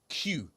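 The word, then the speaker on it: queue: The next one Golden has just said Q. Q. Oh, like as in as in as in the Q. Yeah. So, it's just one letter and four silent letters.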